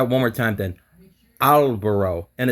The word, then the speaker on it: albero: Albero. Yes, Okay. yes. And one more thing, don't change the O. Don't say like O, like in English would be O. Just like plain O.